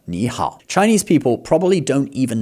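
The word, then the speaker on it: 你好: Now, this is two third tones in a row, but if you were to say ni hao, and then you try to say that fast, ni hao, it gets a bit awkward, okay? So, they change the first tone to a second tone, ni hao.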